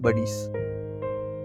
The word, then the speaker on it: Badis: Next comes my favorite Indian nanofish, the scarlet buddies. Scarlet buddies are among the smallest percoid fish species. Although their name rhymes with one of the most cherished dog movies, they belong to the